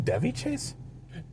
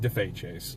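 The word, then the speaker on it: Daveigh Chase: Do you mean Devy Chase? It It's spelled like that, but it's pronounced like Def Chase.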